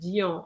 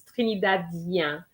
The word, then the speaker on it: Trinidadien: And also Trinidadien. You tend to say Dion. I think Trinidadian is Trinidadien.